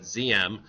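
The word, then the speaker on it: Diệm: led by noen ZM so you would pronounce that ZM uh they are anti-communist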